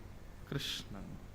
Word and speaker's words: कृष्ण: नहीं तो आप लोगों से पूछ लीजिए, कृष्ण नाम का शुद्ध उच्चारण नहीं कर पाते, कोई अनुस्वार बिंदी या कोई मात्रा अधिक लगा ही देते हैं। तो भगवान नाम क्या रखा गया? कृष्ण।